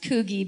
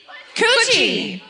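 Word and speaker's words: Coogee: A fisherman hooks a small shark off of what I'm imagining to be pronounced Koogie Beach. No. Yeah. By the laughter, I'm going to guess no. Coochie. Coochie Beach. Coochie.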